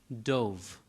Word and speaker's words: Dow: his name d-o-w but it is pronounced dove the way a w would be pronounced in Europe it's a Hebrew name